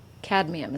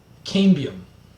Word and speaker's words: cambium: Cadmium. Is that how you say it? Cambium.